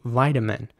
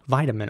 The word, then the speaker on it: vitamin: English the I at the beginning would be pronounced like an I so vitamin and the T would be pronounced very soft in my opinion a very soft tea vitamin almost like a D vitamin so vitamin and vitamin